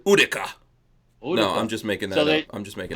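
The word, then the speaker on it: Utica: had left over um bayonet stuff yeah it's UDA yeah yeah so what they did as the Indians said UDA UD no I'm just making that up I'm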